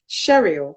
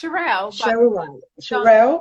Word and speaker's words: Sherrille: to introduce you and i hope i pronounced your name cheryl is that correct or have i spotted it it's shirelle okay well it's shirelle but yeah depending on